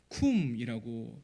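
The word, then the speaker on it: קוּם: 그리고 이루리라에 해당하는 이 단어는 히브리어로 쿰이라고 발음을 하는데요, 일어나다, 세워지다, 성취되다라는 뜻을 가집니다.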